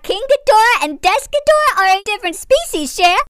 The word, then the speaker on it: Desghidorah: Secondly, it's pronounced Desghidorah.